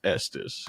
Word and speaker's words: Estes: used to say it wrong but it is pronounced Estus correct that's correct yeah I know people from